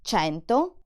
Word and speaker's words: cento: In words like ciao or cento, the letter C sounds ch because it's followed by E or I. Ch, ciao, cento.